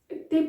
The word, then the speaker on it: até: Até pode correr bem. And you hear até, because there's the accent there, that's where the queen is.